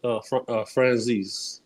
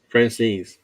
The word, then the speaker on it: Franzese: How do you pronounce it? Franzese. Franzese.